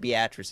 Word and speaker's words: Beatrice: It's actually pronounced Beatrice. It's very weird. It used to be. I'm sure it was Beatrice at one time.